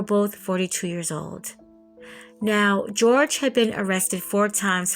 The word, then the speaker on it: Jorge: that I've listened to they're pronouncing his name George not Jorge so George Torres Jr